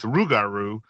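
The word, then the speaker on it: rougarou: Um, but we've kind of lost the the the French pronunciation of it and it's uh and so we have gone with rugaru r o u g a r o u.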